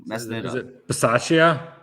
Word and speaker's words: Bisaccia: Is it Bisaccia? Bisaccia.